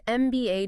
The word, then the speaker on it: MBA: But how do you pronounce the letter M when you say the acronym? You say M. M starts with an E sound, vowel sound. Precisely. So it's an MBA degree.